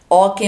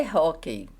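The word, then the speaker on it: hóquei: que que é Oi okem é um tipo de jogo sobre o gelo Desculpa gente a pronúncia certa é hok Poney saudáveis amáis e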